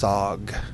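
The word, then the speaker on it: Sahg: I think it's pronounced Sog. It's S-A-H-G.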